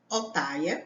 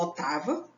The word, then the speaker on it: Ottawa: A capital, Ottawa ou Ottawa, depende muito de como você pronuncia.